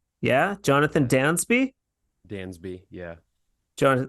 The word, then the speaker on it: Dansby: a z instead okay like the great Dansby that's right as opposed to The Great Gatsby and then uh out